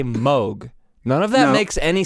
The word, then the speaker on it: Moog: like I want to say Moog there's two O's in that I know but I know we should say mo but I don't want to say that it's not fun it's pronounced mogh try no I know